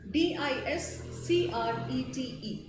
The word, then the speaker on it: discrete: to announce the presence discreet the pronunciation is same but the spelling is different d i s c rou e t d i s c r e t e discrete right so when